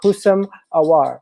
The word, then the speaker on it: Houssem Aouar: So it's pronounced HOUSSEM AOUAR.